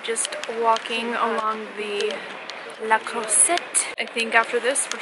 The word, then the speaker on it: Croisette: After some dessert, we're just walking along the La Croisette. I think after this, we're just gonna call it a night. What do you think of La Croisette? It's like a croissant.